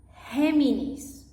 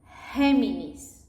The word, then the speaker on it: Géminis: It can also sound like an H when it's followed by an E or an I. Look at these examples, like Géminis. You guys say in English Gemini, we say Géminis.